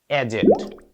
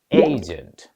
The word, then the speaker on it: agent: আমরা সাধারণত শব্দটি বলি এজেন্ট। অ্যাকচুয়াল প্রনাউন্সিয়েশন এ আসলে শব্দটি এজেন্ট বা এজেন্ট নয়, উচ্চারণটা হয়ে যাবে এইজেন্ট।